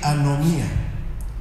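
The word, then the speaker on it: ἀνομία: El griego koiné tiene una palabra que se pronuncia así, anomía.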